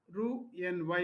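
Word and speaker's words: Roux-en-Y: Here x is silent when you pronounce it this must pronounce it as ru n y method.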